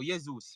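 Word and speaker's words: Jesus: Zeus yes yes Zeus yesus all right so uh um Jas J says I pronounce the name wrong now yeus well that's what I've heard the people from Brazil called him so I don't know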